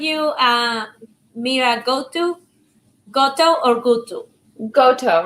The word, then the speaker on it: Goto: Goto, rhymes with photo.